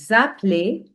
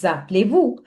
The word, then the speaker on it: appelez-vous: And also, comment vous appelez-vous? Comment vous appelez-vous? Now, whenever there is S, which is following A, you read it like Z. Simple. And EZ, you read it like A.